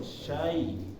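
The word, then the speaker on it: شيء: Sya masuk ke ya sukun. Syai. Jangan sya-nya ini terpotong.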